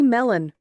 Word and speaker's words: Melon: but not leastly Haley melon Haley Haley liked the melon because she let me know that is how you pronounce her last name just like the melon melon melon Haley watermelon